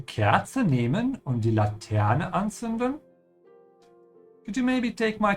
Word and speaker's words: anzünden: Das ist eine Laterne und anzünden, das ist anzünden, ja? Now to give you a few pronunciation tips if you're still having trouble pronouncing, the Z in German, it's pronounced like a TS sound, yeah?